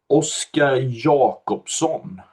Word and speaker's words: Oskar Jacobsson: Oh, yeah. That's a hard one. I have a problem pronouncing it myself sometimes. Uh, Oscar Jacobson, that's the Swedish pronunciation, but Jacobson is international, so let's go with that.